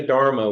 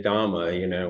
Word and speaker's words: Dhamma: your mouth, and so we don't say Dharma, we say Dhamma, which is very odd.